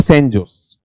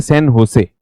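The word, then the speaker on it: San José: कुछ तरीका तो यह है हम बोलते हैं इसको सन जोस लेकिन यहां पर कब्जा किसका था? स्पेनिश लोगों का था। स्पेनिश लोगों का था। तो जब इसका उच्चारण होता है उच्चारण की दृष्टि से इसे क्या कहा जाता है? सन होसे। क्या नाम कहा जाता है? होसे। क्योंकि जो जे शब्द है स्पेनिश भाषा में जे को ये क्या पढ़ते हैं?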